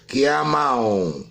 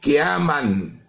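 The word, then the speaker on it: قِيَامًا: Qiyamau, jadi idgham bi gunnah, tanwin diikuti dengan huruf waw. Jadi kita tidak bisa membacanya qiyaman. Jadi kita harus membacanya qiyamau wa qududan.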